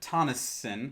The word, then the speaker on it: Tonisson: And we've got Tonisson, I think I pronounced that correctly, from Sydney, Australia. Oh, hello, and yeah, you pronounced that right.